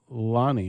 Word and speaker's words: Lanni: We are really excited today to have Lanni. Is that how we're pronouncing it?